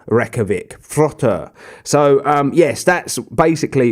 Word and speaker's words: Þróttur: at the beginning of the name is actually pronounced with a th so it's it's frother reykjavik frota so um yes that's basically what i've got